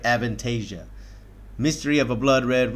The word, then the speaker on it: Avantasia: another new group to the channel this is advantage i think i said it right avantasia mystery of a blood red rose this is